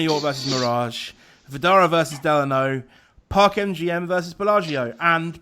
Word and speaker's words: Delano: reputable source that it's named after I think an ex-president and his middle name was Delano and that is how you pronounce it Angeles no answer that's what I'm going on it's definitely Delano but I do know